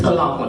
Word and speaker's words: Talahun: It's pronounced with a T, Talahun.